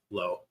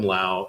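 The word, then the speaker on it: Lowe: Uh uh Brandon uh Low is gonna be my guy for Tampa Bay. Well, you better say his name right. Brandon Lao. Yeah, it's Brandon Laauo and it's Nate Low.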